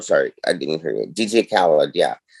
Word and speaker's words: DJ Khaled: name uh the rapper another one oh yeah dj card yeah yeah yeah he's a dj card yeah